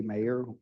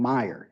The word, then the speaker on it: Meyer: it over to mayor with I pronounced your last name correct didn't I oh I pronounced it wrong Meyer Meyer with Cunningham